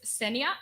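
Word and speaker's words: Senja: name uh so it's senia imagine the J is why and if you have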